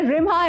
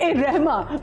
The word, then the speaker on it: रिम्हा: देने जा रहे हैं रिम्हा अहमद को। अस्सलाम वालेकुम। पहले मुझे बताओ, मैंने तुम्हारा नाम सही लिया ना? रिम्हा, बिल्कुल ठीक लिया।